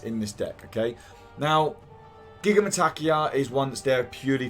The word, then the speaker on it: Gigantomachia: Dodona, Wings of Abaddon, Gigamatakia, I'm going to say it wrong and people can comment all they want, it's how I say it. Gigantomachia, they try to say it better.